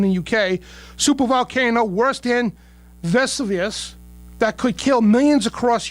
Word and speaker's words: Vesuvius: And excuse me, Dan, it's Vesuvius. Vesuvius? There you go. Thank you. Vesuvius.